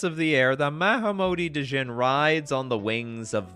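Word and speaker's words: Djinn: Or Jin. Some people, I'm sure, are like, oh my god, why does he keep pronouncing the D?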